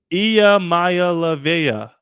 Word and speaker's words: Iamaleava: I just learned how to pronounce his name. I already forgot it. Iamaleava, who has shades of Justin Herbert.